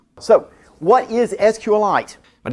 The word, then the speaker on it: SQLite: and site and yes I know the correct pronunciation is SQL light so what is sqlite but it's kind of annoying to say SQL